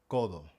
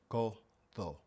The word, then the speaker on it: codo: So, the key to mastering the pronunciation of the Spanish D inside of a word is pronouncing it like the th like we have in though or the.